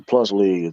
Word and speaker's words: P League: It's pronounced the plus league.